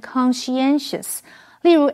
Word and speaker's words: conscientious: Alright, 接下来我们看的是 conscientious 这个形容词。SCI 这个字根有知道的意思，所以 conscientious 是指一丝不苟的，或者是认真尽责的。注意它的重音是在 SCIEN 这个音节念成 conscientious。例如 Edward is a conscientious worker who pays a lot of attention to details.